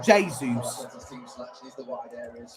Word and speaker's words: Jesus: Gabriel Jesus, or Jesus. It's pronounced in a Brazilian way.